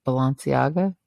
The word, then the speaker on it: Balenciaga: one that got canceled but but I can't Balenciaga that's how you say it but yeah how